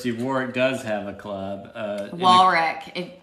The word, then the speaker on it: Warwick: Warwick. You got to pronounce it Warwick.